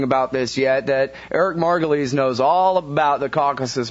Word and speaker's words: Margolis: again didn't I I've been pronouncing your last name wrong this whole time it's margulies it's margulies but you know everybody has a problem with it including myself so don't feel badly but I prefer margulies but my father used to use I'm gonna